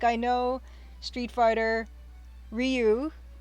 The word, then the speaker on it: Ryu: It's a word, and it's R-Y-U, and it should be pronounced Ryu, but I've always pronounced it Ryu as well, because everyone pronounced it Ryu, and so I know that's wrong.